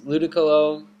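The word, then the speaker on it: Ludicolo: the Thunderbolt on the switch in to his ludiculo yeah that's how you pronounce that and it has pretty much nothing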